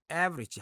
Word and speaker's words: average: average 할 때 애가 이제 강세를 받기 때문에 이거는 강하고 길게 발음 좀 해줘야 됩니다.